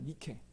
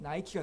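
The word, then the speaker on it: Νίκη: 명상이 되면 니키가 된다 니케 nike k 입니다 그걸 영어로 발음하면 나이키가 됩니다 나 익힌 다 아시죠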